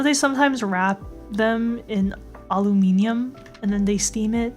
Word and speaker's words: aluminium: I know they sometimes wrap them in aluminium and then they steam it. That's like a thing they do, right? Aluminum? Why did I say aluminium? I feel like some people pronounce it aluminium, like a tomato kind of situation, maybe.